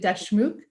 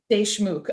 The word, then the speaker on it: Deshmukh: completely forgot to ask is it dash mook close they shmook deshmook okay so close but um you